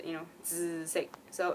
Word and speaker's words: 紫: to say purple, is 紫色. So it's a very like TZ kind of sound, 紫, and a bit nasal, 紫, you know, 紫色.